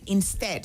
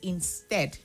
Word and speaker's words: instead: And then your words like instead. So the word is instead, not instead. The stress is on the second syllable, right?